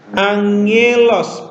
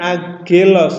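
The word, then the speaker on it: ἄγγελος: Angelos bukan agelos ya.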